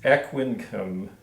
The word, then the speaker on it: Aquincum: And it is Aquincum. At least that's how I pronounce it. I suspect in Hungary, where it was made, they pronounce that a little bit different.